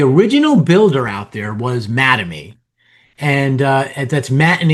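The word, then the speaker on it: Mattamy: The original builder out there was Madame and uh that's Matt and Amy. Take the words Matt and Amy, the names, put them together, and it's pronounced Madame.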